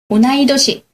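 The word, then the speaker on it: 同い年: 오나이도시. 오나지도시라고 쓰는 경우가 굉장히 많은데요. 같다가 오나지다 하잖아요. 근데 요 경우에만 특별하게 오나이도시라고 합니다.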